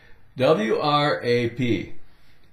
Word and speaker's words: wrap: right they were wrong w r a p take away the W wrap r a p r